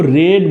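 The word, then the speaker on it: read: ही होता है स्पेलिंग, लेकिन इसे साउंड इसका जो है डिफरेंट हो जाता है। अगर V2 में या V3 में आप पढ़ेंगे तो वहाँ पे आपको रेड बोलना पड़ेगा, रेड बोलना पड़ेगा दोस्तों।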